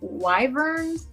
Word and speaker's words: wyvern: What, they were wyverns?